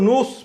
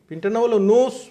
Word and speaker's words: Knowles: ওই পিনটার নাম হলো নোজ পিন, নোজ পিন। আমি আপনাদের আবার উচ্চারণটা বলছি, ওটার নাম হচ্ছে নোজ পিন, KNOWLES, নোজ পিন, KNOWLES, no spin.